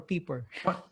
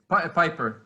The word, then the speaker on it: Piper: Piper or Peeper? Piper, yeah. Yeah, Actually, there's Peter an extra. Piper. It's yeah. It's Yeah, Piper.